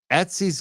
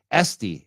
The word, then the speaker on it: Esty: Etsy's going to be at the State House. I definitely want to check that out sometime. Etsy is going to be Esty. Actually, I said it wrong. Esty.